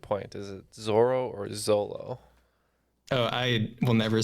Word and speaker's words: Zoro: writing this game and the whole question about Zoro made me think of Ted lasso last month's